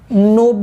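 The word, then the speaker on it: knob: Jack एक और नाम होता है इसका, जैक का एक और नाम होता है नोब बोलते हैं, के साइलेंट है, नोब्स।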